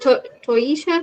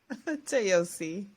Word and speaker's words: Toyosi: Was it Toyisha? Is that how you say it? Toyosi.